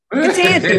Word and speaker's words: Ketanji: Ketanji, my bad.